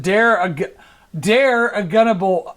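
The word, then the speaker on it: Dare Ogunbowale: Tampa Bay taking over for Leonard Fournette, or Ogbe Agunabowale, how do you pronounce it? Dare Agunabowale.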